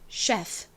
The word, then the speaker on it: chef: 이 단어에서 CH가 바로 쉬 소리가 납니다. 바람 빠지는 쉬 소리. 그리고 이는요. 이의 대표 소리 아, 에, 이, 오, 우 할 때 그 에 소리가 나요. 자, 에. 마지막 F가 왔네요. 자, F는 무슨 소리가 나죠? 아랫입술을 물었다가 내뱉으면서 나는 소리 F 소리가 납니다. 한국식으로는 F라고 적지만 F 소리가 아니라 바람이 빠지는 듯한 F 소리가 납니다. 자, 연결을 해보면요. chef 이런 발음이 되죠.